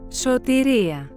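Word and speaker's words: σωτηρία: This is how these two words are pronounced. Sōtēría.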